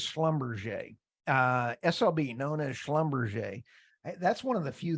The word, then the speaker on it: Schlumberger: only SOB is slumberger uh SLB known as Schlumberger that's one of the few things I can actually pronounce correctly uh until three and a half